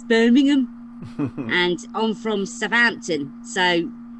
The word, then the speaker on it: Birmingham: said, you don't pronounce the H, so it's Birmingham.